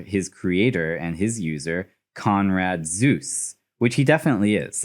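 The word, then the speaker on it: Konrad Zuse: creator and his user conrad zeus which he definitely is like that is spelled z-u-s-e just like zeus's name conrad zeus is kind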